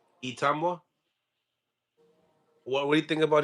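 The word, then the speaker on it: Itauma: Itamwa. Itamwa.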